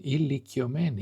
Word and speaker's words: ηλικιωμένη: Μία ηλικιωμένη γυναίκα, μία, one, ηλικιωμένη.